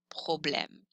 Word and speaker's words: problème: accent grave, M, E, problème. You can see this accent grave on A's, E's, or U's. On the letter E, it's pronounced eh.